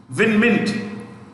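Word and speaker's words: Win Myint: ibrahim muhammad is win mint w i n i repeat w i n win mint m y i n t mint m y i mint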